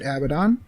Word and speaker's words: Abaddon: episode is about abaddon i choose to pronounce it abaddon because puns are terrible now it is